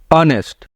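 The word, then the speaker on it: honest: नेक्स्ट है ऑनेस्ट मैन अब य पर तो एच है और एच तो एक कंसोनेंट है लेकिन हम इसको प्रोनाउंस करेंगे ऑनेस्ट एच य पे साइलेंट है तो इसलिए यहां पर एन लगेगा क्योंकि य पे साउंड जो है अ का रहा अ नेस्ट तो एन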